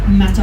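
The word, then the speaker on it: Mater: Belfast no this is the Mata Hospital we're made to hospital depending on how you'd like to pronounce it but it's n-a-t-e-r to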